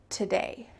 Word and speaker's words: today: Do you hear an ooh sound when I say it? Today, today. Nope, it's just the t sound before day.